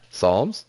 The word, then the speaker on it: Psalms: that's cool p-s-a-l-m-s Psalms Psalms no it's just Psalms you just don't pronounce the p it's up to you